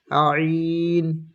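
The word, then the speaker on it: ع: ط ط ظ ظ আইন আইন, হলকের মাঝখান থেকে উচ্চারণ হবে।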